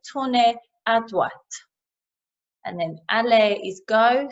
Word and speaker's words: droite: It's slightly different from ahead for right because you have to pronounce that T. I think the E on the end kind of emphasizes that T, so à droite.